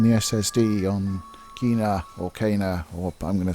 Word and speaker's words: Kena: kana bridge of spirits i think it's kana i would said kenna or kina or but it's pronounced in the game kana for some reason and this is a